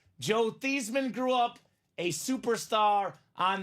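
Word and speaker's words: Theismann: old Joe thean thesman that's how it was pronounced Joe theeman grew up a superstar on the high school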